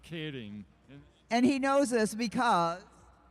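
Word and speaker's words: Keirin: we're saying it wrong oh the yes the Kieran race is is actually pronounced kading and he knows this because well I have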